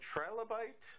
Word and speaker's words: trilobite: It's, how you pronounce it, trilobite?